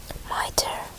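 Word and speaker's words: Mitre: say this square m i t r e miter in the city of London 34 of an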